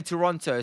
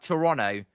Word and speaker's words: Toronto: You're not um too much older than me then as um I know you're to pronounce it like Toronto um with not the second T technically, but um I'm not